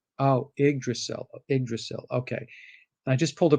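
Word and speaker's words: Yggdrasil: it right is it yiggdrasil uh yeah it's either that or egged or so i be i believe it's the y is pronounced like an eye oh iggdracell okay i just pulled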